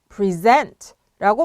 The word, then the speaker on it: present: 하지만 동사로 쓰실 때는 발음을 유의하셔야 됩니다. 악센트가 뒤에 오거든요. present가 아니라 present, present라고 발음하셔야 됩니다. 여기서 pre 부분을 pre라고 발음을 안 하고요. 이제는 pre라고 발음을 해야 됩니다. 근데 pre인데 present 이렇게 발음하셔야 됩니다. 악센트가 뒤에 오는 거를 기억하셔야 됩니다.